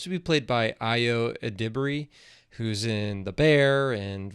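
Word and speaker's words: Edebiri: I ado Ediri but it's not. It's Adbury.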